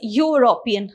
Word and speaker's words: European: uh see it is european okay so you pronounce it as u isn't it so this is not a vowel sound it's a consonant sound okay so whenever you